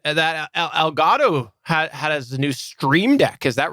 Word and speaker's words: Stream Deck: it's pronounced it's pronounced stream deck there's an r in there like a new street